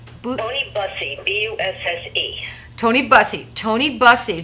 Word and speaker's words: Bussey: I want to pronounce it right. Tony Bussey, B-U-S-S-E.